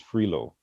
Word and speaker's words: Frilot: But one of the vice presidents of UL or USL, Dean Patricia Cottenham, I think her maiden name is Frilo, but it's spelled Frilot.